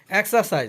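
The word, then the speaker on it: exercise: এক্সারসাইজ অর্থ ব্যায়াম, এখানে আর এর উচ্চারণটা হবে না, এক্সারসাইজ অর্থ ব্যায়াম।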